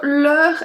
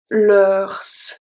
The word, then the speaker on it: leurs: So leur has the same pronunciation for the 3 of them because we don't pronounce the S. We don't say leurs. So we say leur, leur. So the pronunciation is exactly the same.